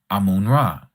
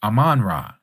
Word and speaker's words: Amun Ra: Now, the Egyptians have a deity as you know, because you brought it up, Amun Ra. Some people pronounce it Aman Ra.